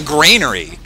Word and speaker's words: granary: have to see and apparently I get made fun of for how I say Grainery uh the Europeans were all like how you Americans say Grainery so funny I'm like well what how are you supposed to say it's it's a thing that holds grain it's a Grainery it's not a granery it doesn't hold Grand